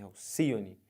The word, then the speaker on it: Alcione: é uma ave mitológica o nome dela é Alcione e não Alcione é Alcione as sílaba tônica é essa aqui então se você conta última penúltima antepenúltima Alcione é uma palavra proparoxítona beleza aqui ó aríete